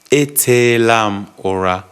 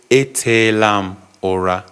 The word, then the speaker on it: Etelam ora: So when someone asks you Itela ora, the response you give is etelam ora. Etelam ora. Yes. So you say etelam ora. That's how to say it smoothly.